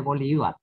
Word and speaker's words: Bolívar: Debería ser Bolívar, con acento en la...